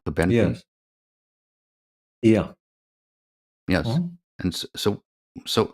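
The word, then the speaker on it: Cobenfy: It's called I guess coenvi how to pronounce it. Is that right? Cobeny.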